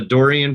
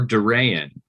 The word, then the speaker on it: Dorean: called the Dorian principal Dorian or Duran Dorian is how I pronounce it of course like you know if you were going to pronounce it uh using you know arasi and Greek pronunciation be like Dorian I think yeah but uh but yeah no I I find it easiest just to say Dorian yeah we'll let it